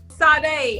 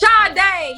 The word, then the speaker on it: Sade: Sade. I don't know if I'm pronouncing HER NAME RIGHT. SHADE.